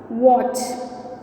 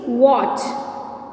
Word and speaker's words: watch: Fifth one, watch. Fifth one is watch. Which one is silent letter here? Which one? Yes, T is the silent letter.